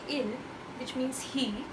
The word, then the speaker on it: ils: When we say il, which is basically ILS, but we do not pronounce the S, which is the case with most of the plural words in French.